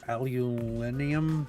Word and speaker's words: aluminum: We're looking for titanium, and this is aluminum deposit, or aluminium, I think the overseas people pronounce it.